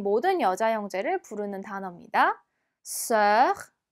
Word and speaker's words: sœur: 얘는요. 지금 OUE가 같이 붙어 있어서 발음이 조금 까다로울 수 있습니다. 얘의 발음은요. 입은 O, 안쪽의 소리는 에처럼 내신 다음에 S 발음 스를 붙여주시면 됩니다. 한번 해볼까요? O, E, sœur. 한번 더 해볼게요. O, E, sœur. 네, 그렇게 발음해 주시면 됩니다.